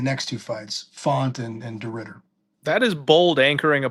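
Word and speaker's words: de Ridder: DeRitter at plus 240, and then again um, at plus 200. Is that how you pronounce him?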